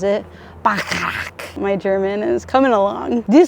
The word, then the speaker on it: Bacharach: We're lounging here in Bacharach, as the train pronounces it, Bacharach.